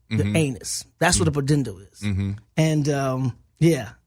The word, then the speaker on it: pudendal: it's a tough one to say it's a pudendal pull endo pudendal pretend oh it's spelled EU de in da l bu d